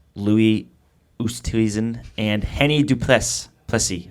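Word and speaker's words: Plessis: ustedsen and henny dupress plessy i think that's how you say it plessy too plessy because it's like is but it's french-ish you are way more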